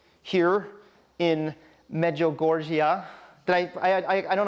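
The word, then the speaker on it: Medjugorje: religious sites, Catholic sites uh like here in Meogorgia. Did I I I don't know if I did I I suddenly get it right. I can never pronounce that word correctly. Help me. Me Goreier. Meugorier.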